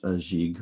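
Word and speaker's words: gigue: the first one is jig which is french pronunciation for a jig which means it's going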